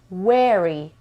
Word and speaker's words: wary: This word is wary. شما رو یاد چه لغتی میندازه؟ یاد این لغت میندازه. Very. This is Very. This one is very. V. W.